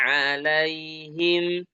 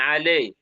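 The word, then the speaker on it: عَلَيْهِمْ: Shiratal ladzina an'amta alaihim, ala jangan alai tapi alaihim.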